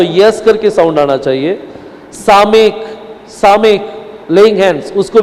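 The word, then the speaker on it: סָמֶךְ: सामेक। इसको क्या बोलते हैं? सामेक। इसको भी यस साउंड आएगा, सामेक।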